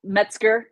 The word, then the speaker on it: Metzger: And I know, do you pronounce the G in the last name or not at all? Yeah, Metzger. Yep, the G is in there.